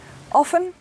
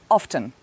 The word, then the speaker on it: often: i often speak english often often both are okay sometimes we pronounce the t sometimes it's silent thanks for watching i